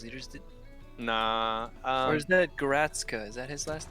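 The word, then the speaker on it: Garstka: Or is that Goratska? Is that his last name? That's Matt Garska, yeah. Gartska. That's how you say it.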